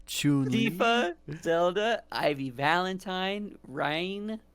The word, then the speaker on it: Chun-Li: Okay, we got Lara Croft, we got Princess Peach, Chu-Li, Alex from Don't even have to say her name. It's Chun-Li, sorry. Chun-Li.